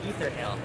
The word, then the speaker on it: Aether Hale: good um showing me ether Hill yes okay ether Hill first time I've heard it pronounced that way yeah that's an interesting accent so you're playing Aether Hale showing me ether are